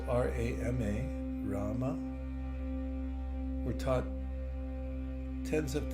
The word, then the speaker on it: Rama: The 2 syllables R-A-M-A, Rama, were taught tens of thousands of years